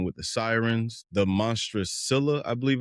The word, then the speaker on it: Scylla: terrifying deep end with the sirens, the monstrous Scylla, I believe it's pronounced, and a pretty incredible but grim trip to the Underworld to raise the army of the dead.